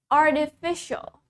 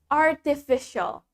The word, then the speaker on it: artificial: So, in British English, T-nya tetap T. In American, T-nya diganti D.